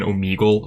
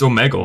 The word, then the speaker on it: Omegle: to properly pronounce omegle i was like saying omegle up until that point and i'm like wait it's not pronounced it's omegle it's all megal i don't know that